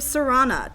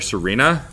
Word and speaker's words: Serana: Either way, you team up with a vampire named Serana to keep the world safe from a terrible prophecy. Yeah, I kept wanting to call her Serena. Yeah. Because it's spelled Serena. No, it's spelled Serana.